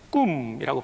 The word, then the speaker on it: cum: 영어로는 COM이지만 라틴어는 CUM, 꿈이라고 발음하죠. 경험을 많이 내니까 꿈은 함께.